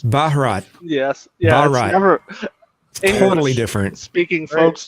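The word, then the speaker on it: Bharat: The background I was looking up how to pronounce India in Hindi and it's Baharat.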